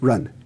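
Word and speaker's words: 仁: That word is benevolence, pronounced run in Chinese.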